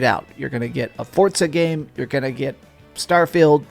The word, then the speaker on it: Forza: out here my guy why do you pronounce Forza with a T it's Forza not Forza then again my sister